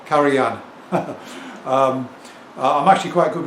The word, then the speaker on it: Karajan: on my last video pointed out that it's pronounced Karan and not karajan yeah actually I know that and it's just